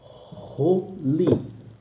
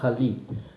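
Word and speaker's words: חֳלִי: Portanto, a pronúncia dessa palavra é Roli. Roli. Não me vai me falar Hali.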